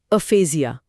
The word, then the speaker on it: aphasia: ये शब्द है एफेजिया। इसे बोलते हैं अफेजिया।